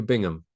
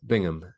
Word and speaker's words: Bingham: some of these topics so pronunciation Bingham uh Bingham so that's how I'd say it anyway um but you